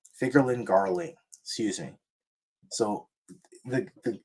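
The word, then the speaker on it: Figarland Garling: the king of God Valley was killed by figland Garland by was it Garland figland let's say it right figurin by figurin Garling figurin Garling excuse me so the the king of of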